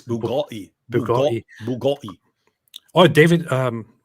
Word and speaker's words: Bugatti: Where's your Bugatti boy? I don't know why I marked this comment. Love. They've already given you the correct pronunciation. It's Bugatti.